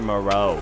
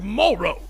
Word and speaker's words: Moro: it legendary who's Dr Moro it's pronounced Morrow all right who's Dr